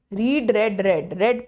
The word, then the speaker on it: read: आई हैड रेड, रेड pronounce करते हैं इसको।